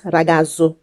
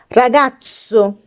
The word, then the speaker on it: ragazzo: sound for example ragazzo anytime you see this word you don't have to pronounce it as ragazzu because the word contains double letters if you say ragazzu that means you aren't pronouncing it correctly you have to call it ragazzo another example is gato